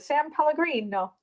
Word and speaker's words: San Pellegrino: San Pellegrino. There you go. You need the inflection and you got to speak with your hands.